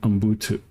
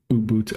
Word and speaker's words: Ubuntu: Debian, Open Seuss, CentOS, Stream, uh Fedora, and Umbu. Ubuntu. I have trouble with saying that word for some reason. I don't even know if I'm saying it right. Uh Ubuntu.